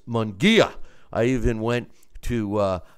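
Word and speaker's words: Munguía: I've been criticized about how I've been mispronouncing his name, and it's Munguia.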